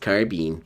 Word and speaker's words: carbine: Pronounced carbine.